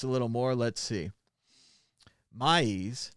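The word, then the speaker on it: Mies: little more let's see maize not mises i said it wrong earlier maize directed the influential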